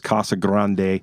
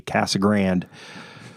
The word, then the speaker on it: Casa Grande: Nobody says Kasa Grande. They say Cassag Grand. The only people who say Casa Grande are people from out of town.